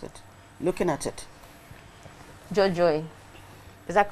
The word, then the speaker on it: Dzordzoe: How would you pronounce it? Looking at it. Dzordzoe. Is that correct? yes. Okay, how would you pronounce it, Frank, looking at it? Jojo.